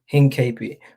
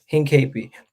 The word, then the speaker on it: Hincapie: I forget how to pronounce his name again. 1 second. This is gonna bother me all day. Hincapie. So yeah, Hincapie.